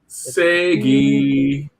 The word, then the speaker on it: SEGE: And so look at SEGE and say it like you're saying Sega, but replace the A with an E. Segi.